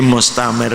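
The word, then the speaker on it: مستمر: fi yaumi nahsim mustamir, jadi mustamir ini rok tasdid, bacanya harus mustamir, ditekan tapi harus takrirnya itu harus disamarkan.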